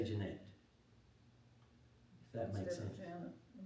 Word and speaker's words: Janet: Her name is spelled J A N E T but they say Janette.